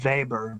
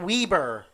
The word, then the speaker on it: Weber: One of the I believe it's pronounced Weber because he's German. Oh wait, no. Some say it Weber. But since he's German, the W is pronounced like a V.